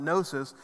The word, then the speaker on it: gnosis: head knowledge is gnosis the g is silent gnosis but epidosis and it's